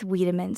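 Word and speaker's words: Wiedemann: Is that how you pronounce Weidman? Beck with Weedman syndrome.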